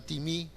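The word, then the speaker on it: τιμή: Para los que están tomando nota, timí, se escribe timé, suena timí, que significa valorar, apreciar lo que es la otra persona.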